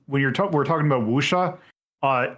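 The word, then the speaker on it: wuxia: you're we're talking about wusha uh if you see uh wusha is spelled w was it w-x-i-a so if you see that that is musha just because it's one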